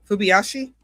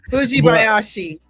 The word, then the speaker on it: Fujibayashi: Fubiyashi? Fubibayashi. I feel like I'm saying it wrong. I'm butchering all these names. So sorry, Japan. You guys are awesome. I just so bad. Fujibayashi.